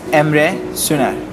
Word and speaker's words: Emre: Fact number one, my name is Ema. A lot of people don't pronounce it right, so I hope you get it.